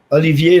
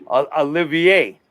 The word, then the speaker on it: Olivier: Olivier, like the actor Laurence Olivier. Olivier.